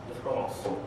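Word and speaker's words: différance: അപ്പം ഫ്രഞ്ചിൽ ഉച്ചരിക്കുകയാണെങ്കിൽ ഡിഫറൻസ് ഡിഫറൻസ് നിങ്ങൾക്കത് മനസ്സിലാകുകയില്ല, ആർക്കും മനസ്സിലാകുകയില്ല. അതുപോലെ സൂക്ഷ്മമായിട്ട് ശ്രദ്ധിച്ചെങ്കിൽ മാത്രമേ ആ വ്യത്യാസം മനസ്സിലാക്കും. ഇയുടെയും എയുടെയും വ്യത്യാസമാണ്. ഉച്ചാരണത്തിൽ ഒരുപോലെ ഇരിക്കും, പക്ഷെ എഴുതുമ്പോഴേ വ്യത്യാസമുണ്ട്.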